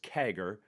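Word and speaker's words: CAGR: Sometimes you'll hear people pronounce it as kagger.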